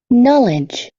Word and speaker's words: knowledge: night, night, knitting, knitting, knitting, knock, knock, knock, knowledge, knowledge, knowledge.